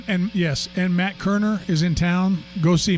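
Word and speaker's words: Koerner: Kerner. Kerner. No, Kerner. Kerner. The O is silent.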